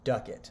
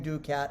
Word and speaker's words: ducat: class in the morning it's pronounced duckett so sorry for saying ducat a hundred times it's duckett now let's find my place